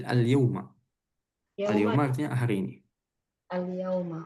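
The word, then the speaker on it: اليومَ: Enggak, bukan alyaum. Alyyauma.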